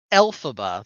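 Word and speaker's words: Elphaba: at this uh but we have Glenda and alphaba that's how it's pronounced correct alphaba okay arriving at the University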